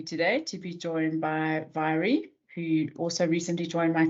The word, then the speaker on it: Mhairi: My name is Mhairi. That is pronounced with a V, although it's spelled with an M, so you can completely disregard the spelling.